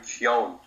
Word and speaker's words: Keoghan: His name is Barry Keoghan.